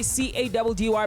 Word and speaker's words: Caddy: It's your boy C-A-D-D-Y, pronounced Caddy.